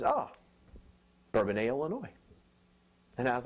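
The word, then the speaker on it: Bourbonnais: the same town so has a bonus or bbon is the correct way to pronounce it bbon address and she looks down at my key ring while I'm fishing for my credit card and she says oh bban Illinois and I was like hey you've been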